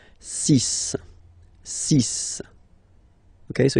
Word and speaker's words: six: So you get the cis pronunciation sis. Sis. Okay. So it's not six, it's sis.